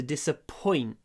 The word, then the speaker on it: disappoint: Разочаровывать, to disappoint. To disappoint. Ударение на вот, на disappoint. Disappoint. disappoint, но мы не говорим disappoint, мы не делаем громкий ой, мы делаем паузу перед п.